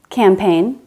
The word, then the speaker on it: campaign: Also GN at the end of a word. Design, sign, rain, foreign, assign, campaign.